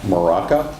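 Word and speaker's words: Mrowka: Hello, my name is Maraca. That's spelled M-R-O-W-K-A.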